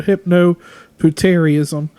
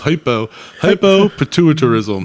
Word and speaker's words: hypopituitarism: rare hormonal disease called hypnopituitarism. I probably mispronounced that. It gives her the appearance of a 9-year-old child. And with hypnopituitarism... So hypno, it's hypopituitarism.